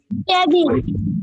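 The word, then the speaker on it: table: হ্যাঁ, এই কথাটা আবার রিপিট করে টেবিল কাজটা হচ্ছে টেবিল টেবিল টেবিল উচ্চারণ হবে টেবল টেবল এই ক্লাসটা হচ্ছে একদম শেষ ক্লাস, মানে কোর্সের শেষ ক্লাস হবে, আবার এটা রিপিট হবে।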